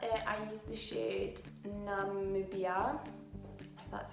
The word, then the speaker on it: Namibia: I use the shade Namibia. That's how you pronounce it.